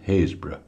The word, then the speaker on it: Happisburgh: real light out and it's spelled Happisburgh so if it leads on the east coast of Norfolk so if you're looking for you're looking for the word Happisburgh basically almost haze bro right let's get cracking